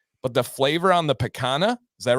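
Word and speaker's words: picanha: thing and it's the am I saying it right the um um P or go ahead and say p picana okay yeah so it's the picana which is has that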